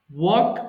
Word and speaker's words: walk: এটাকে অনেকে ভুল করে ওয়াল্ক বলে ফেলে, হ্যাঁ? আচ্ছা, তোমরা ভুল করো না আমি জানি, তারপর একটু জানিয়ে দিচ্ছি। এটাকে অনেকে ওয়াল্ক বলে, এখানে এল এর উচ্চারণ হবে না, ওকে?